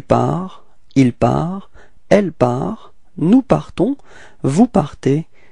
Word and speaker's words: partons: Nous partons. Okay, so final S is not pronounced as usual, so you only need to pronounce at the end this nasal, so O-N, on, alright, nous partons, repeat.